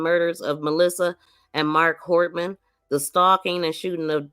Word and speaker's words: Hortman: He next drove to the home of Speaker Emorita and Representative Hoffman of Melissa Hoffman or Hortman. I keep saying her name wrong.